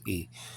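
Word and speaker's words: η: It's pronounced differently in modern Greek. It's not hey, it's E.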